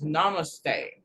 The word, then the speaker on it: namaste: bring in namaste namaste okay so i'm pronouncing it wrong it's namaste uh no mistake again